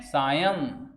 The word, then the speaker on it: सायं: तो एवं सायं, इसको पढ़ते हैं सायं। मैं साफ साफ लिख रहा हूं, पढ़ना हो तो ऐसे ही पढ़ सकते हैं। बताइए क्या? सायं। लिखने का तरीका, उच्चारण करने का तरीका भी आना। बच्चे इसको साए साए पढ़ते हैं, साए नहीं होती है।